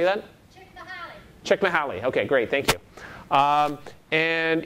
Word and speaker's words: Csikszentmihalyi: This is by this guy who has this unpronounceable name. Can anyone say this name? Mikhail. Say that? Csikszentmihalyi.